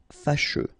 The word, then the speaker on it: fâcheux: So final X not pronounced, and then you get your combination of E, U, E. Fâcheux.